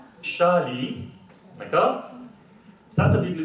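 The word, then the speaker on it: 沙梨: Alors, ça se prononce Shali, d'accord?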